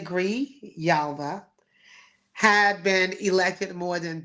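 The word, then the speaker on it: Grijalva: I think that's how you say it. M yes G I'm sorry Gree Yalva Adelita Gree Yalva had been elected more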